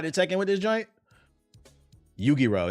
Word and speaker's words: Yu-Gi-Oh: Yu-Gi-Oh. That's how you say it.